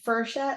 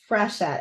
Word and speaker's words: Frechette: But the other thing is my own family mispronounces our name. Like my dad died still saying his name wrong. Like my brothers, my dad, a couple of my uncles say Frechette, like it's F-E-R. But come Really? on, folks, it's Frechette, F-R-E.